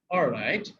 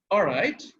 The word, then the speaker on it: all right: উচ্চারণ করি অল রাইট, কিন্তু ব্রিটিশরা যখন বলে অল রাইট, এলটাকে খুব সামান্য উচ্চারণ করে, আরটাকে প্রথম কানেক্ট করে ফেলে এবং it sounds very nice. So অল রাইট, অল রাইট, অল রাইট, এলটা শোনাই যাবে না।